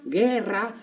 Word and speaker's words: guerra: Pues aquí la U no se pronuncia. Entonces, ¿para qué la ponen? Porque es así. Mira, si la U fuera a pronunciarse, debería tener 2 puntitos aquí arriba.